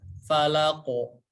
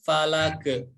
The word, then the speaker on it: falaq: Falaqo, falaqo, bukan falake, falake, falake, tapi falaqo, falaqo ya. Dikarenakan qalqalah jadi harus mantul. Jangan sampai kita bacanya falak, falak. Jadi ditelan ya huruf qafnya ya.